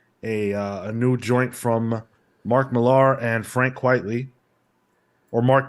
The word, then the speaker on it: Millar: new joint from Mark Millar and Frank Quitely, or Mark Miller, sorry. We've got Is it not Millar? No, It's it is Mark yeah, Millar.